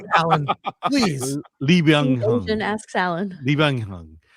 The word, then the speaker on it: Lee Byung-hun: And you can pronounce his name, Alan, please. Lee Byung-hun.